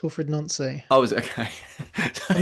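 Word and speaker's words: Wilfried Nancy: He's French, isn't he? So it's Wilfred Nancy.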